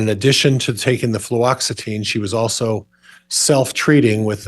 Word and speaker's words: fluoxetine: Fluoxetine, thank you.